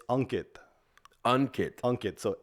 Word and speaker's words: Ankit: guy but why don't we say the exact pronunciation so it's unit unit unit so a n k i t so a lot of Americans say Ankit so